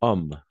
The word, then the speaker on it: homme: En français, le H est muet. Alors, en français, il y a deux types d'H. H muet et H aspiré. Mais pour l'instant, tout simplement, on va se concentrer à regarder le H muet. Le H muet. H muda. Hollywood, handball, Hawaii, handicap, habit. D'accord? Habit. Ou et homme. De la même façon, n'est-ce pas? Homme. Homme. Toujours muet.